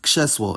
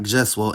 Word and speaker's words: krzesło: However, there are two exceptions; the [v] sound and the [ʐ] sound (when spelled rz) can’t control cluster voicing, and will get overridden if there are voiceless obstruents before them in clusters. For example, the word for “chair” is krzesło, not , and the word for “Thursday” is czwartek, not .